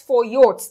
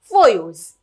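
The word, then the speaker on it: Foyot: is not pronounced as for yours this is a french word and usually in french the last letter is not pronounced so that is why it is called as foyos now this was a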